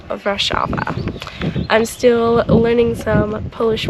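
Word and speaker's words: Wrocław: one is in rashava it is spelled uh war claw when you look at it in English but it's pronounced rashava I'm still learning some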